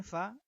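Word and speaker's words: فاء: আচ্ছা, তো আমরা সামনে এসে দেখি, এটা হলো ফা। ফা। তো এটার উচ্চারণ আমরা বাংলাতে ফ আকার ফা এর মতো করতে পারবো। ফা। তো এটার উচ্চারণ করার ক্ষেত্রে আমরা আমাদের সামনের যে দুই দাঁত আছে, এই দুই দাঁতকে আমরা নিচে ঠোঁটের পেটের মধ্যে রেখে ফায়ের উচ্চারণ করব।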